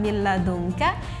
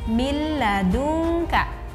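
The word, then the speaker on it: مِن لَدُنكَ: Karena ini lamnya tidak boleh kita dengungkan, kan ini la, tidak boleh kita dengungkan. Jadi min ladunka, bukan min ladunka.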